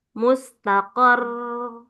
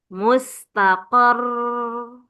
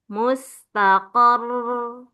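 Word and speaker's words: مستقر: Ini mustaqar. Mustaqar kayak lebih dipanjangkan ya. Eah, rnya itu ro sukunnya ya. Cara bacanya ro sukunnya di akhir itu lebih dipanjangkan. Mustaqar ya jangan mustaqar. Nah itu tidak terbaca tasdidnya ya supaya tidak hilang jadi lebih lama lagi. Mustaqor ya khairun bariikum jahratan laqodirun.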